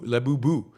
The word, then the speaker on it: Labubu: to be honest, uh, labuba is pronounced labu, labubu, uh, in quick succession.